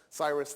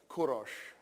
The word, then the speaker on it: Kourosh: founds a minute Empire Cyrus the Great kourosh is the Persian pronunciation of Cyrus we say Cyrus because